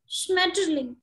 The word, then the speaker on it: Schmetterling: Spell, how do you pronounce, ma'am? Schmetterling.